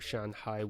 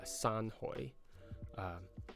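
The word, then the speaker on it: 山海: So Shanhai would be mountain and sea or ocean. So in Cantonese that would be Sanhoi. It's a different pronunciation, as you can tell.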